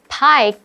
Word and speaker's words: pi: Hello，大家好，我是 Hanny。今天的课文标题是 Delicious Pizza Pie。那这边没有拼错单字哦。平常我们说 Pizza Pie 就是 pizza 的别称。那么 Pie P-I-E 它是指派或是馅饼。那么圆周率 Pie 读音跟它一样，只是拼成 P-I。那这边它就是刻意用 Pizza Pie 把这个 Pie 改成 P-I 来形成双关语，就是因为今天的课程要来解一个跟披萨相关的数学题。当你到披萨店去买一个12英寸的大披萨，但是店里面只剩下比较小的尺寸，店家就提议说，卖你2个6英寸的披萨，价格跟1个12英寸的大披萨一样，这样你应该接受吗？那要找出答案，你就得用一个特殊的数学公式，就是